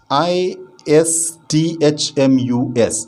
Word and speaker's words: isthmus: of kanda who narrows down to end is i s t h m u s is isthmus a narrow strip of land connecting